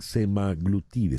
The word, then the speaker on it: semaglutide: los efectos secundarios del semaglutide se pronuncia así floral semaglutide en inglés y en español le dicen semaglutida semaglutida Qué es la